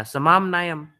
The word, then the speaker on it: समाम्नायम्: Yeah, samam nayam. That is how you say it.